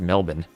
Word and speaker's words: Melbourne: It's pronounced Canberra, the same way Melbourne is pronounced Melbourne.